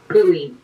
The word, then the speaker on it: Louis: Louis. Louis, okay. Rhymes with Louis. Like the knife.